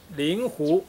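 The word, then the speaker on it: 令狐: 令狐这个要读成令狐，所以令狐冲应该读令狐冲。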